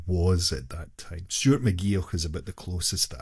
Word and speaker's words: McGeoch: I never say his name because I don't know how to pronounce it. You say McGeoch? McGeoch.